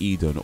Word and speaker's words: Idunn: The way, I mean, they spell it like IDUNN, but yeah, I guess maybe it's pronounced like Eden or Eden, like you know, Garden of Eden.